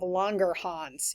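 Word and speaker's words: Langerhans: Specifically, specifically your eyelets of longer hans. You got to say it like you have a German accent.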